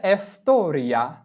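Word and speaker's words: storia: তাহলে যেহেতু এখানে শব্দের শুরুতে এস আছে এবং এরপরে কনসোন আনন্ আছে তাহলে আমাদের এস এর উচ্চারণ এস এর মত করে করতে হবে। তাহলে এসতরিয়া মানে ইতিহাস।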